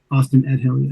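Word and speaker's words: Ost-in-Edhil: How do you pronounce that? Austin Edill. Austin Edill.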